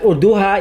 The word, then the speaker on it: Urduja: female Warrior Queen called urduha now it's important to note that urduha is the Filipino pronunciation of her name and this is not